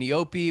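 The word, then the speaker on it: eopie: He's riding, how do we pronounce this creature? A Neope? An Eope. An Eope, which is like a camel on Tatooine, which we've seen these before.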